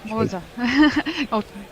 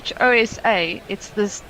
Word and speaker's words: Xhosa: Pronouncing that right. I think it's Xhosa.